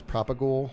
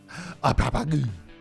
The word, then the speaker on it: propagule: I think if you're not saying propagule that way, if you're one of the people that just says propagule or proper, what are you doing? What are you doing? Say it right. Propagule. That's how you actually say it.